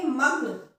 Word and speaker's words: मग्न: तो मग्न, मग्न, म के साथ जल्दी से ग की आवाज आ रही है, यानी कि ग जो है उसका उच्चारण म के साथ होगा, पहले वाले अक्षर के साथ होगा मग्न।